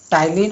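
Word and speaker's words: Ptyalin: Amylase, जिसको हम लोग टाइलिन भी कहते हैं। यहाँ पी से स्टार्ट होता है लेकिन यहाँ पी साइलेंट होता है, इसलिए हम इसको टाइलिन पढ़ते हैं।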